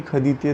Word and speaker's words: ходить: Here is the conjugation of this word khadit. Ya khoju, ti khodish, on ana khodit, vi khadite, moi khodim, ani khodyat. The stress is on o after kh.